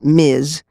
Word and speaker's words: Ms.: MS period pronounced miz was first used in